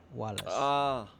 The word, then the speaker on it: Valles: Also, V's are pronounced as W's if you're saying it in Latin, so it would be Wallace.